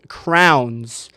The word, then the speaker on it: crayons: How do you pronounce that word crayons? I always say crayons or crayons. But when I was up in college, I remember people from the Midwest, the Missuris, the Kansases, they would always pronounce them as crowns, but I I had